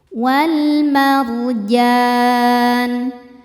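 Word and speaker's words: وَالْمَرْجَانُ: Ra sukun dibaca secara tafkhim sebab sebelumnya berharakat fathah. Cara bacanya ra dibaca tebal. Wal marjan.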